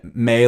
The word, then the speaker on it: mi: And in a single syllable, like me, the syllables may, like phonetically we'd spell it in English, M-A-Y is the phonetics of how you spell it. How it's spelled is M-E, which is kind of